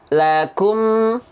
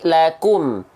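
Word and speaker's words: لكم: Bukannya sekedar lakum, enggak, tapi lakum. Nah, maju bibirnya, ya, karena ada dalilnya, ada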